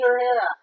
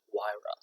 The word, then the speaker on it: Huayra: Pagani Herrera. Is that, you It's say a Pagani. Bugatti? A Pagani Huayra is how it's pronounced.